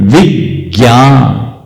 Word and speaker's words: विज्ञान: पर जोर दिया अक्षर विज्ञान विज्ञान बोलते हैं क्या बोलो विज्ञान बोलते हैं या विज्ञान बोलते हैं क्यों बोले विज्ञान ज्ञ संयुक्त है इसलिए इसको बोलते हैं विज्ञान उपक्रम उपक्रम नहीं बोलते